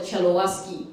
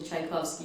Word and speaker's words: Tchaikovsky: My father and I used to call it Chelowaski because we just couldn't pronounce it. But we learned, and yeah, I love listening to Tchaikovsky.